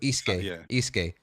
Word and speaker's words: Layden: Yeah, the G is silent, I think. So Layden, right? Now my question to you,